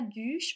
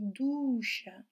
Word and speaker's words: douche: Si c'était le U, ça serait duche. Et on ne dit pas duche, on dit douche.